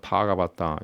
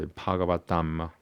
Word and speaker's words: Bhagavatam: Like instead of Bhagavata Puranam, you call it instead of Purana, you call it Puranam. And instead of Bhagavata, you say Bhagavatam.